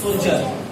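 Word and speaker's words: soldier: word is सोल्जर सोल्जर what is this pronunciation will be सोल्डर what सोल्डर and this pronunciation will be सोल्जर ज and okay सोल्डर एंड सोल्जर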